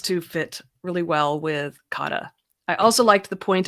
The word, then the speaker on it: kata: The experiment kata, pronounced kata, is an essential tool